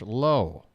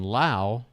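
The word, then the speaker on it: Lowe: sit for the left-handed Josh low Josh low lwe same last name as Brandon Lao lwe but pronounced different so don't get them confused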